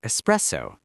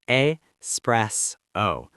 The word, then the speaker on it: espresso: Or espresso. There's no X sound. It's Espresso, not espresso.